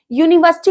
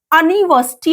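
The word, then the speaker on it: university: तो हमें क्या एन लगा देना है नहीं यूनिवर्सिटी को हम अनिवर्सरी अगर पढ़ते अनिवर्सरी तो अ की साउंड जैसे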